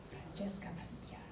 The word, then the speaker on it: Francesca Padilla: Francesca Padilla. That's how you say it with spice.